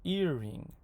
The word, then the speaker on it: earring: And the first word in a two-syllable compound noun will be stressed. So, earring.